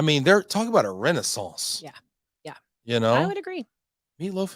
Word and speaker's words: renaissance: Renaissance. You have to say it like that. You got to say it like that. It's like French. Croissant. You croissant can't say and renaissance. Basically, you just don't finish the word. That's how you speak French. You just let it trickle off.